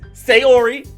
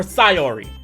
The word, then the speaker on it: Sayori: Hold up, before we start the gameplay, this is editing the way I went back and I saw I say the name wrong. Name is Sayori or Sayori.